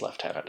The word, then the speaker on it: lieutenant: And yes, I said Lieutenant. I'm Canadian. Lieutenant is the British/Canadian pronunciation.